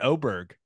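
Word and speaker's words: Åberg: And I loved how you went Oberg. You'll hear Aberg quite a bit, but Oberg is the proper way to say it, right? It's the A with the little O on top of it.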